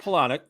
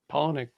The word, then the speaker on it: Palahniuk: Chuck Palahniuk.